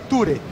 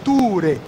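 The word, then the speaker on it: túre: Sem o acento ficaria ture. Com o acento fica ture. O U demora um tempo maior na boca.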